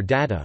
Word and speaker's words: data: and British usages are data which may be pronounced with DA instead of a day and maroon pronounced with